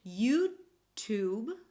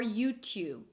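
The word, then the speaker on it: YouTube: So you can say 'yuw-tuwb' or 'yuw-t(y)uwb'. Let's try both: 'yuw-tuwb' 'yuw-tuwb' or 'yuw-t(y)uwb'. -Exactly So both are okay.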